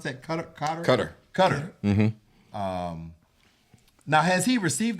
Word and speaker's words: Qatar: $400 million plane from, how do you pronounce that? Cutter.